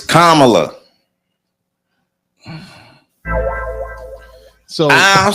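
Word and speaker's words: Kamala: want to say that say her name it's kamla so I don't say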